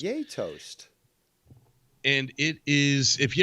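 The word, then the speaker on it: Gjetost: actually pronounced for me it's actually pronounced yay toast so yay we're gonna have toast yato's yay toast and it is if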